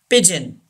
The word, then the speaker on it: pigeon: Pigeon. Here G gives the sound J and EO gives the sound E.